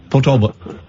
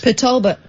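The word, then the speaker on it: Port Talbot: Portalbert. You can't even say it, can you? I can't say it properly cuz you're not supposed to say the T's. Pulbert.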